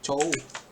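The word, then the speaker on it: 兆: Cok kan? Bacanya cow.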